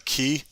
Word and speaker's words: quay: Eventually, when I get clay and bricks, I'm going to make a key. It's spelled quay, but what can I say?